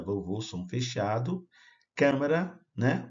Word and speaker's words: câmara: Câmara, né? O A fechado, a câmara, não é câmara, é câmara.